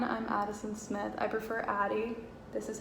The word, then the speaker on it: Addie: Addie gets spelled many different ways, and I dislike when it's spelled with an I or an IE, so it's Addy. It's daddy without the D. That's the best way to remember it.